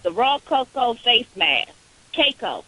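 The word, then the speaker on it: cacao: Caco. Is that how you say it? C-A-C-A-O.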